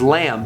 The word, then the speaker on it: lamb: in english such as lamb weird right lamb we just say l-a-m but there's a b there you don't say it and det there's a b there but we don't even pronounce it why i don't even